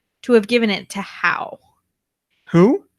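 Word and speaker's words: Hau: You pronounced it incorrectly. In PASM 16, he was revealed to have given it to How. Who? How, H-A-U.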